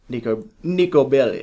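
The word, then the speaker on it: Niko Bellic: Nico Bellic.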